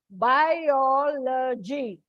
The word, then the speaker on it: biology: Biology, you don't say biology. It's a trisyllabic word, and that's why it comes before O.